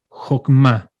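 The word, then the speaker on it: חכמה: Sabiduría se dice jokmá.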